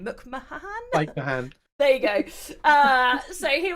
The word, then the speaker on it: Mahan: So we had Lower Deck showrunner Mike Mahahan. I don't know how to say his name. Mike Mahan.